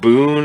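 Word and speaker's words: Bune: heard i guess we're going with boone as the pronunciation for b-u-n-e i find it easier to say boone reverence that's weird but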